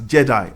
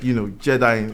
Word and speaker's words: GEDI: And for some reason, they like to pronounce that as Jedi, like, Jedi in the Star Wars films.